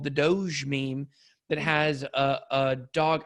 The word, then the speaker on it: Doge: what investing Doge a coin I love that pronunciation oh it's Doge yeah I get to know it's okay we